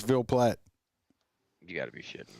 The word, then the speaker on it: Ville Platte: Ville Platte. Ville Platte. What? It's Ville Platte.